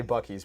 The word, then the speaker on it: Buc-ee's: Anyway, if you don't know, Buc-ee is spelled really weird and it looks like Bousset.